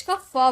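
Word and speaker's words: cough: में प्रोनाउंस करेंगे जैसे सीओ य जीी एच तो यहां पर जी एच को हम फॉर्म में प्रोनाउंस किए कफ हो गया एल य जी एच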